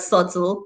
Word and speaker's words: subtle: all at the end here comes the word subtle with b in the middle and det d-e-b-t with